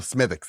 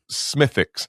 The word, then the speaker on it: Smithwick's: Oh, you don't pronounce the W? No, Smithwick's, yeah. Smithwick's.